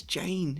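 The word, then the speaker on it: Jeyne: Her name is Jane. It rhymes with pain.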